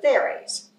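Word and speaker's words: Thierry: to French words, but we called them the Therrys, T-H-I-E-R-R-Y. And however it might have been pronounced in France, we pronounce it Therry here, Mr.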